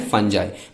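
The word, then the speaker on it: fungi: Bacteria and फंजाई। बहुत लोग इसको फंगी भी बोलते हैं, लेकिन इसका नॉर्मल प्रोनाउंसिएशन फंजाई है।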